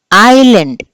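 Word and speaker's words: island: ఏమంటాం మనము ద్వీపం కదా దీన్ని మనము ఐ ఎస్ ఎల్ ఏ ఎన్ డి అని చెప్పి రాస్తాం కానీ ఐలాండ్ అని చెప్పి అంటాం సో ఏది పలకలేదు మనము ఎస్ ని మనము పలకలేదు అంటే ఎస్ ఇస్ the silent letter in the word ఐలాండ్ three which letter is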